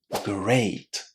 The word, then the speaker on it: great: This is great. It contains the same sound as the word neighbor in the first syllable. A. Great. Just as the first letter in the English alphabet.